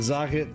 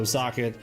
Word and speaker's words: Zokket: Now that I think about it, it might be pronounced simply similar to socket, just because it makes sense. See, Zokket sounds like a circuit to me, but I can see there's no R in it, so Zokket.